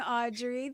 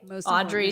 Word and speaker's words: Audriix: follow me on Spotify Audrey spelled a UD d r i iix two eyes One X but it's pronounced like Audrey the x is silent but um yeah so